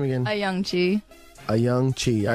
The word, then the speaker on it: Ayoung-Chee: uh Ana say your last name again AI a young Chi all right that's it I got it um